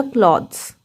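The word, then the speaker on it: clothes: लेकिन जब इसके बाद हम ई एस लगा देंगे तब इस वर्ड का प्रोनाउंसिएशन एकदम चेंज हो जाएगा यहां पर। तब टीएच थ नहीं बोलेगा द बोलेगा। अब यह हो जाएगा क्लॉथ्स।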